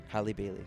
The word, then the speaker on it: Halle Bailey: Halle Bailey.